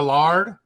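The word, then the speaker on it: laird: If you are a landowner in Scotland, you get to become a lord, or technically how they say it, a lard.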